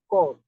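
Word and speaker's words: corps: in that point that some letters in a word may not be pronounced at all look at this now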